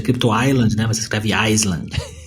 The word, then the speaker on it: Crypto Island: Se pronuncia Crypto Island, né?